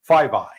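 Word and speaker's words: FVEY: paragraphs the classification report summary says FV y 5i That's the how the security bureaucrats pronounce that 5i stands for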